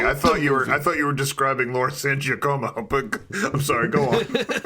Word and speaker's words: Laura San Giacomo: And right off the bat, I want you to say your name and pronounce it correctly for us. Laura San Giacomo.